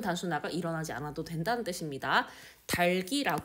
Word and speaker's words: 닭이: 된다 즉 자음군 단순화가 일어나지 않아도 된다는 뜻입니다 달기 발음하는 것이 합리적이다 그런데 실제 발음에서 닭이라고 발음하는 경우가